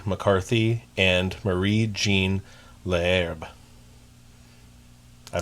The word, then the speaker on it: McCarthy: There are some other sources that the last name was actually pronounced McCarty, but more often than not I saw McCarthy.